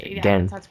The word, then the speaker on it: Gen: It's kind of pronounced between like Gen and Gain. It's okay. Gen.